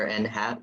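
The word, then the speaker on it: n̂: to compute a number n hat. That's how you pronounce this in math world, because it's like it's wearing a little hat, right?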